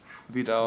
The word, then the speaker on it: Vidal: Corey Vidal. Vidal. Corey Vidalia. Yeah. Vidal, just like the onion? Yeah. Close. Like the shampoo. Vidal. Vidal. Sassoon. We've been saying it wrong our entire lives.